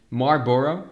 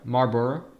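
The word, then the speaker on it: Marlboro: So Mar County is one of the counties pronounced Marbor. Marbor is like that. So we don't pronounce the L.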